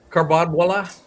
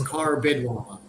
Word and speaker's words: Karbidwala: Uh Kar- Karbadwala? Karbadwala? Very very close. Uh it's Karbidwala. Karbidwala, okay. I got the emphasis in the wrong place here.